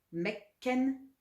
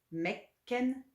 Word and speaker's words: mekken: ken, sen ken, 400 torken, torken, torken, 500 mekken, mekken, mekken, 1000 dalen, 6000 jinda dalen, jinda dalen, jinda